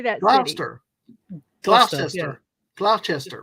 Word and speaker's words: Gloucester: Gloucester. Gloucester, yeah. Gloucester, right? It's Gloucester. Gloucester. Gloucester. No, not Gloucester. It's just Gloucester. Gloucester. Gloucester. Don't say the E. So, okay, imagine the spelling is Gloster. Gloucester.